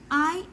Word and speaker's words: impecunious: So the second word is Impecunious, pronounced as impecunious, which means having little or no money.